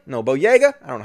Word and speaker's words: Boyega: are angry as with john bodega no boyega i don't know how you pronounce his name john boyega because he posted